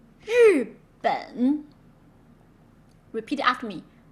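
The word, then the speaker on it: 日本: Okay, so when you add R, just simply voice it. Feel the vibration on your vocal cord. Zh, zh, zh. Jacques, Asia, and measure, zh, zh.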